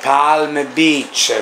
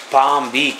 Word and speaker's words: Palm Beach: Ecco 40 anni fa avremmo detto che ne so Palm Beach quello che era invece è pun Beach si pronuncia in un certo modo No questo discorso è